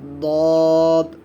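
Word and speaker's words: ضاد: এই সদের উপর যখন আমরা একটি নক্তা দিয়ে দিব তখন এটার নাম হয়ে যাবে দদ। অনেকে কিন্তু দোয়াত বলি, দোয়াত হবে না, সকলে উচ্চারণ করুন আমার সাথে সাথে, দদ, দদ, দোয়াত বলবেন না, দদ, দদ।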